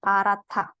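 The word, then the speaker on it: 파랗다: rabun ada rumus lagi rumusnya ketika ya rabun ketemu Baim h dalam posisi Baim ketemu sama Diget dia akan dibaca ta ya dibaca ta jadi bacanya akan eh pemisahannya seperti ini pa ra ta seolah-olah seperti itu ya parath kenapa ha ketemu D gitu ya Hi ketemu Diget jadi parath parath Selanjutnya ada sangsot nah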